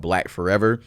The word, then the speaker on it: BLKFRVR: It's called Black Forever. It's spelled BLKFRVR.